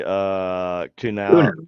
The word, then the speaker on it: Kunal: Yes, she said it was actually Kunal. Right? I think it was Kunowski or Kunal. Kunowski is it's a Polish last name, and but she shortened it to Kunal, and that's how she pronounces it.